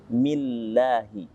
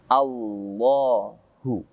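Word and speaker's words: الله: Maka Allah dibaca tipis. Millahi. Beda dengan kalimat Allah yang didahului dengan fathah atau a, maka kalimat Allahnya menjadi tebal. Menjadi Allahu.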